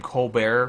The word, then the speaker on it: Colbert: don't know how to Colbert I heard that he started pronouncing his last name Co Bear for the coar report